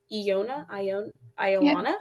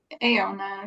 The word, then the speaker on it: Iona: I don't know if I'm pronouncing your name right, Iona. Yeah, yes. Which one? Aona, you can. It's Iona.